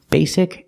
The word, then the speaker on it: basic: a is silent basically the first syllable is a long a like say and pay Bay Bay basic the S is a true s like star basic basically look this whole